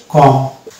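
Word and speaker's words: comb: অনুরূপ ভাবে এটা যেমন বম হলো, এখানেও বি সাইলেন্ট হয়ে যাবে, তাহলে এটার উচ্চারণ হয়ে যাবে কম।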